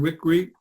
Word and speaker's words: Wickre: Next, Karen Wickre.